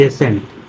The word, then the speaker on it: ascent: जब यस के बाद सी आता है तब सी का उच्चारण नहीं किया जाता है।